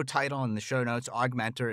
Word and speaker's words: OGMentor: and the show notes augmentor is spelled o OG Mentor pronounced aug Mentor I love the name